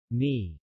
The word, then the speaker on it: knee: The K is silent in the initial KN. Knife, knob, no. Knowledge, knee, not.